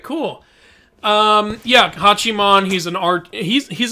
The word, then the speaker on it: Hachiman: kids wait did you was it hachiman or hajima well it's spelled with uh is hachiman spelled with a j no okay i must have picked